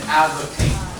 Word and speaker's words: advocate: kind of person an advocate. So here this word, A-D-V-O-C-A-T-E, advocate on the first syllable.